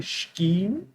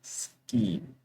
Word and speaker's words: scheme: So you will hear some people say scheme, but the correct pronunciation is scheme.